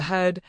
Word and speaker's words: He: He, pronounced like her with a yawn, which is associated with the heart.